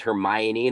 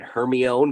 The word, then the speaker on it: Hermione: It's like that moment where you realize the character's name is Hermione, not Hermione, because you've only read the books and you go to see the film for the first time in Harry Potter.